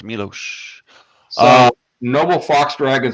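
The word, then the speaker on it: Miloš: winning the Academy Award m i l oos pronounced Milos Noble Fox Dragon says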